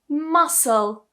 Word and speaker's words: muscle: But we're just going to say for the sake of this video that the C is silent.